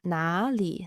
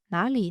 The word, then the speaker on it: 哪里: And when you notice when I say it at a natural speed, then you don't really emphasize the third tone for 哪. So you don't say it like 哪里, 哪里.